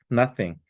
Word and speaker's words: nothing: 거 얘기하고 있는 거예요 nothing th가 띵에게 번데기 발음이잖아요 그러니까 우리 아무것도 아닙니다